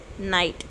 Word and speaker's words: knight: Ninth one, KNIGHT, night. Here K is silent.